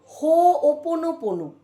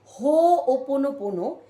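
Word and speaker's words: Hoʻoponopono: বলি হিলিং টেকনিকটার নাম হো ওপন পোনো অনেকেই এটাকে সঠিকভাবে উচ্চারণ করেন না তাই আবারো বলি হো ওপন পোনো এটি একটি হাওয়াই দেশের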